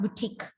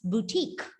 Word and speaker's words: boutique: Okay, not boutique, it's boutique. Very good, Angelia.